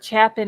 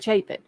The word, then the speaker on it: Chapin: Or Chapin instead of Chapin.